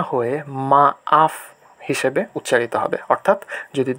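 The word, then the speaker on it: maaf: এই যে মাফ শব্দটাতে যে দুইটা এ পরপর বসেছে এজন্য এর উচ্চারণটা মাফ না হয়ে মা আফ হিসেবে উচ্চারিত হবে।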